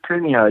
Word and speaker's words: Kumiho: And I stumbled over the EP from 2017, which of course I'm going to mispronounce, but I'll give it a go anyway, which is Kumiho, I believe. Is that how you pronounce it? Yeah, pretty close. It's Kumiho, yeah.